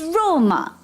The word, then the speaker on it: Roma: Where is Rome? It's Roma.